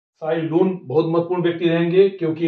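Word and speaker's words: Cai Lun: इनकी स्पेलिंग लिख दी है CAILUN, साई लून, हिंदी में इनको बोलते हैं।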